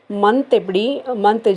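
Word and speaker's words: मई: இப்போ ஜனவரி, அந்த ஜனவரிங்கிறது இங்கிலீஷில் இருக்குது இல்லையா, அதை நம்ம எப்படி ப்ரொனவுன்ஸ் பண்ண போகிறோன்னா ஜனவரி, ஜனவரி, ஜனவரி. நேம் சேம் இதே தான். ஸோ கொஞ்சம் சின்னதாக மாறும்.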